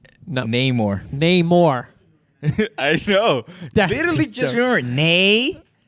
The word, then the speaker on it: Namor: Namor. I know. Literally just remember Namor. I'm gonna write it down. How about this? Do the Namor. More, just the way you say it.